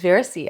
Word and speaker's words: Veracia: So it's Veracia? It's Veracia.